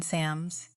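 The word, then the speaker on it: མཚམས: to shut himself in sams, written in shams and pronounced sam.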